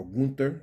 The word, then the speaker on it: Gunther: We'll see, or Gunther, actually, I think is how it's said. That's how his name is said, so we'll see how that goes.